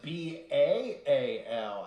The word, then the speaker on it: Baal: with the little child it's spelled b-a-a-l as in bail worship oh I'm so